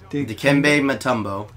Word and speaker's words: Dikembe Mutombo: Wait, how's it pronounced? Dikembe Mutombo.